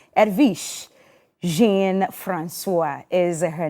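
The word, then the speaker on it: Jean-François: My first guest has a very wonderful name, Edwige Jean-Francois is her name. Now, she's a multilingual. It's Jean-Francois. Yeah, Jean-Francois. But I'll let her pronounce it herself when it's her turn to speak.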